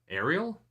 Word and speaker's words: Ariel: my name interesting yeah so I don't know if the aerial pronunciation is actually like a kind of North American thing but uh yeah that's